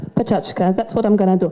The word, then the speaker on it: Pecha Kucha: Some people pronounce it Pecha Kucha, others Pechachka. But if you could read this tiny print here, you would say that it says, for advanced learners, Pechachka. I'm advanced enough to pronounce it Pechachka.